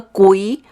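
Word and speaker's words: 鬼: okay now you remember kui the the spelling is is written as gui okay but when you you pronounce it it we call it as a k-u-i okay gui okay it's mean ghost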